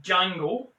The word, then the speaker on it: Django: is a revelation as jango the d is silent it introduced me at